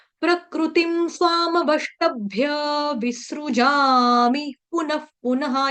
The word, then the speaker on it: पुनः: प्रकृतिम स्वामवष्टभ्य विसृजामि पुनः पुनः, यहाँ वाले का विसर्ग का आधा फ आएगा उच्चारण, ठीक है? क्योंकि प फ भ भ म है ना, प वर्ग लगा तो विसर्ग का उच्चारण आधा फ हो जाएगा।